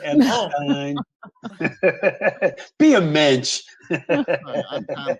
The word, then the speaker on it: Epstein: It's Epstein, not Epstein.